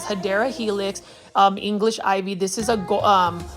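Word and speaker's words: Hedera helix: here we have a HRA helix or the correct way to say it is hadera Helix um English ivy this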